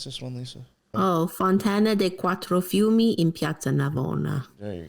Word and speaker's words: Fontana dei Quattro Fiumi: Here's the how do you pronounce this one, Lisa? Oh, Fontana dei Quattro Fiumi in Piazza Navona.